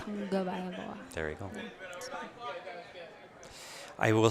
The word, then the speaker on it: Tagovailoa: Tua Tagliavola. I can't even pronounce the name.